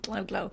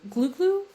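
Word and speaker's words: glou-glou: Glow glow. Is it am I pronouncing that correctly? Glow glow. Glue. Let's see. Um, glue glue. Glue glue. Okay. Glue glue.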